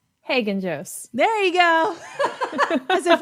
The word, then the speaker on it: Haggenjos: name I'm horrible with names Dina last name Hagan Jose there you go as if as if I know that you pronounced it right Dina I'm so it's so